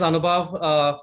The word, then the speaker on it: Anubhav: so my name is anubhav for people who have pronunciation questions siri calls me on a boat our team which is